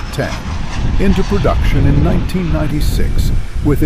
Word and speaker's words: X: Textron put the Citation 750 or X pronounced 10 into production in 1996